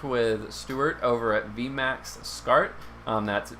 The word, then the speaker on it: Scart: um but it's uh i found out i was mispronouncing it as s cart for a while and